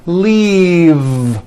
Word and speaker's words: leave: leave this last word leave is very different from the word leaf like from a tree which has an unvoiced f the word is leave with a voiced v keep the voicing going throughout the whole word and voice the v